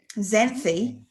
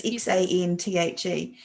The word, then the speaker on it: Xanthe: Xanthi. I don't even know if that is how you say that name. It's Xanthe.